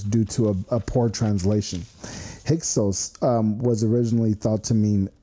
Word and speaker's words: Hyksos: It's pronounced Hyksos.